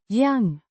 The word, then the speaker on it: jag: Y means I or me pronounced yang with a hard g sounds similar to the g in go.